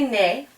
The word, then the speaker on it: née: So even though these are pronounced the same, il est né, elle est née, they are spelled differently.